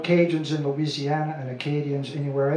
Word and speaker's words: Cajun: And so the Spanish couldn't pronounce Acadien, so they tried, and it came out Cadien, and ultimately it became anglicized as a contraction, Cajun, Cajun.